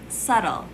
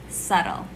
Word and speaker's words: subtle: pedord fjord number three subtle subtle silent b subtle number four cupboard